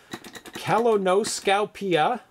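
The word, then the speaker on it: kolonoskopia: And the game is pronounced, in Polish, Kalonoskopia.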